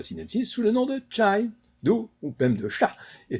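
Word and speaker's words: chá: En portugais, l'infusion de Camellia sinensis se dit cha, qui est d'ailleurs très proche de la prononciation pékinoise.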